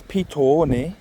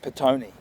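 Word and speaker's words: Pito-one: So the word is Pito, the long O, spelled P-I-T long O-N-E, if you get what I mean.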